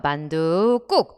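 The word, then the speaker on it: 만둣국: 암말이 뒷말을 꾸며 주면서 만두 꾹 발음할 때 명사와 명사 사이에 원래 없던 밴 소리가 들어왔죠 우리 이 현상을 사이 소리 현상이라고 불을 꺼고 만두가 한자에 요 그러나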